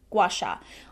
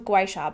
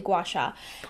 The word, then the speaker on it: gua sha: i'm not butchering that i'm pretty sure that's how it's pronounced gua sha i used to think it was gweisha but it's definitely gouache um so basically this